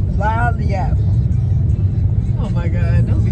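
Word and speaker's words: Lagniappe: And the parentheses, it's a la-yay. Let me, all right. So the restaurant is actually called Lanyap. Lanyap.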